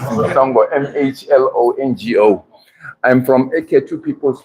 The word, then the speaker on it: Mhlongo: My name is Mhlongo, so I won't blame him for the pronunciation of my surname. It's Mhlongo, M-H-L-O-N-G-O.